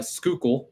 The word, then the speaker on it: Schuylkill: A little bit left in Schuylkill. That's how that one's pronounced.